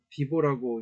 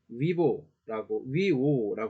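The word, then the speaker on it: vīvō: 이것은 영어에서 W의 소리를 갖는다고 해요. 그래서 예를 드는 게 가장 발음은 좋을 것 같아요. 그래서 이런 단어가 있다라고 해볼게요. 이건 장음 표시입니다. 그렇죠? 그럼 이건 어떻게 읽어야 될까요? 비보라고 읽지 않고 위오라고 읽어야겠네요.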